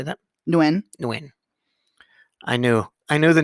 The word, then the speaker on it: Nguyen: The G is silent. Nguyen.